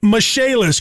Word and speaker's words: Michaelis: restoration and insurance restoration spelled m i c h a e l i s pronounced mishaelis call 844 fix indy